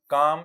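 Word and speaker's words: calm: आगे फॉरेस्ट, जंगल, लायन, शेर, काम, शांत। यह ध्यान दीजिएगा। या एल साइलेंट है।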